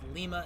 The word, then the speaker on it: Lima: of Lima Ohio it's Lima if you're in Ohio it's Lima if you're in Peru so please don't at